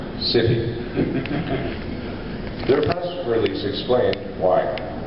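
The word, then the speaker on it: Syfy: It's now pronounced, for those who haven't heard, spelled S-Y-F-Y, so it's now being pronounced City.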